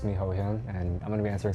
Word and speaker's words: Hohyun: So it's spelled HOHYUN, and it's pronounced HOHYUN. HOHYUN. Some people say HOHYUN if it's easier, but HOHYUN.